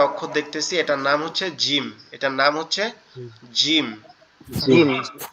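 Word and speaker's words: جيم: এই যে কাচির মতো দেখা যাচ্ছে, এটার নাম হচ্ছে জিম। এই জিম হরফটা হচ্ছে আমাদের জিহ্বার আগা উপরের তালু, অর্থাৎ আমাদের গালের ভিতরে যে উপরের অংশটা আছে ওখানে লাগবে। লেগে একটু শক্ত, মানে একটু মজবুত আওয়াজ।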